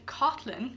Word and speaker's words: Caitlin: Yana is Hebrew and it means God is gracious, and Cotlin, which is spelled like Caitlin, comes from the French of Caitlin.